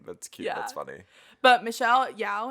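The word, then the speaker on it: Michelle Yeoh: cute that's funny but michelle yao is how you say it i think she was really good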